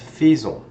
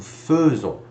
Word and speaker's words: faisons: this would be pronounced faisons, but it's actually not pronounced that. It's pronounced like an E instead, Frenchy, obviously. So it would be nous faisons instead.